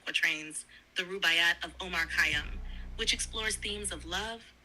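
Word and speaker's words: Khayyam: is Omar C it's last name robot lady is spelled k h a y y a m Omar kayam was a Persian poet mathematician and astronomer from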